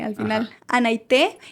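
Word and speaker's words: Anaité: Sí, porque todos siempre dicen mi nombre mal. Está difícil, O luego, Anaite, o Ana. Bueno, mi nombre es Anaite. Anaite. Anaite, con tilde en la E al final. Ajá. Anaite.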